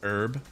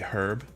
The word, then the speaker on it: herb: Well, I always find it funny when Commonwealth countries give us shit for the way we pronounce herb, for not saying the H, where they say herb.